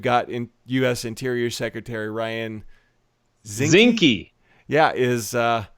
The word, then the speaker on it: Zinke: Interior Secretary Ryan Zinke. Yeah, rhymes with Slinky.